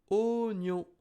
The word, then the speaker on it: oignon: Oignon. You can see O plus I. It should have been wa, but the I is silent, so it's O.